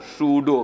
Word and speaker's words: pseudo: Spelling जानते हैं, PSEUDO, सूडो। क्या बोलेंगे इसको? साइलेंट हो गया पी, बोलेंगे सूडो।